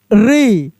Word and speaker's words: ऋ: ऋ ऋ देखिए इसके उच्चारण में आपका जीभ जो है ना कंपन करेगा।